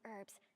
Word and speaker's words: herbs: When I cleared the area, I saw it was a You don't pronounce the H. You only say herbs, not herbs.